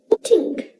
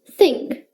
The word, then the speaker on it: think: often incorrectly pronounced as tink try to say it with me put your tongue between your teeth and say this this this now put your tongue between your teeth again and say think think think great job